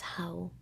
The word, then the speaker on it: hou: spelling is correct but you can also write it with the d and it's also correct so it's like one of the two that's basically the the story behind it but you you just pronounce it as how without the d so you say ik